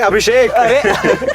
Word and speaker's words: अभिषेक: के से अभिषेक, के साइलेंट है उसके नाम में।